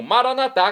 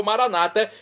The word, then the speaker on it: Maranatá: E agora do aramaico eu clamo Maranatá, como dizemos nós católicos, ou Maranata, como dizem nossos irmãos separados, os evangélicos ou protestantes. Não importa a pronúncia, o significado é o mesmo.